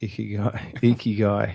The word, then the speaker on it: Ikigai: I know that you recently made a blog post about, what is it, Ikigai? Something along those lines? Ikigai. Ikigai. It's Ikigai. hard to pronounce. It's a Japanese word.